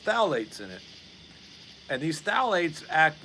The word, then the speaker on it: phthalates: and it's full of something else it's called phthalates and it's that's spelled p phth anyway uh and these things